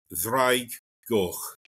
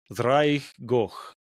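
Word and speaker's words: Ddraig Goch: Ddrwg Goch. Ddrwg Goch. Yeah. Okay. There's a lot of two D's going on in the Welsh language. Yeah, and that's pronounced almost like a voiced TH.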